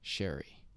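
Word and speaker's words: Scerri: In the podcast, I incorrectly pronounced the name of the book's author, Dr. Eric Sherry.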